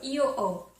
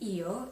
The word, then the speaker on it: ho: okay so I have you'd say EO oh so EO it's actually spelled with an H so it'd be EO and then h o